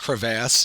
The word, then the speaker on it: crevasse: a general idea um this word is actually pronounced crevasse it could also be called crevices um but you can see